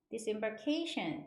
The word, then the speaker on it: disembarkation: k a t i o 이거는 cation 이렇게 발음하죠 disembarkation 이렇게 발음하는데 disembark 하면은 배나 비행기에서 내리라는 뜻이